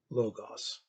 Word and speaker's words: Logos: Since Nietzsche is a classicist, I shall use the classical pronunciation. Logos, right? Logos, the Word of God, is the center of our life.